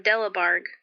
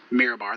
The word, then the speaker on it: Mirabar: some missing things from Delabarg." So Thurl, that was I think I might have spelled that or pronounced that wrong when I told you the name of it, but it's Mirabar. That's my fault.